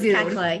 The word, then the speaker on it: Kekla: You said it was Kekla. It is Kekla. Yeah. Kekla.